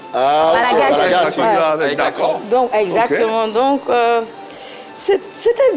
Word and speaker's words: Malagasy: Surtout le petit coucou que j'ai fait au Malagas, comme ils aiment le prononcer. Au Malagas, toi j'aime dire Malagas. En fait, c'est comme ça ils disent là-bas, au Malagasy. Malagasy.